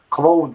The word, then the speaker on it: clothes: voiced th sound so you would be thinking that you gotta be pronouncing the hood thus from making the pronunciation has closed this right but that's wrong people just say closed it's as if you're saying closed or right so again just forget about the th and imagine you're just saying closed put the clothes on and closed the door it's pretty much the same pronunciation my friends in and